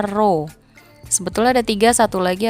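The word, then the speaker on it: ρ: Nah, ini dibacanya rho.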